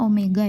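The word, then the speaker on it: ω: Untuk ini seperti huruf W ini dibacanya omega ya.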